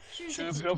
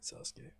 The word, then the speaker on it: Shuzuki: Shuzuki, yeah, Alright, Sasuke. yeah. If you do it by Japanese pronunciation, it should be Shuzuki. Shuzuki. Because he- Sasuke is a different spelling.